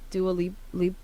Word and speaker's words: Dua Lipa: How do you say this bitch's name? Dua Lipa. Wait, what? Dua Lipa. Dua Lipa, whatever. Exactly how you read it.